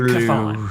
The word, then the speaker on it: Chthon: and eyes and flesh matching the appearance of Chthon.